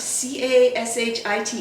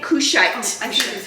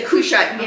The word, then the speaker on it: Cushite: he was marrying how do you not c a s h i t e is how you how do you pronounce it? That was her cashit. Cashit woman. Was it a cushite? Kushite.